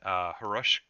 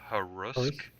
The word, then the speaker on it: Harusk: I think it's H is Russ. silent. They just had a prime cast yesterday come out, and I believe that's when they announced that, how the pronunciation is. You can keep saying Haagen-Dazs if you want, but I believe it is Harusk.